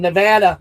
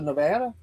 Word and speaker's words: Nevada: She's in from Nevada.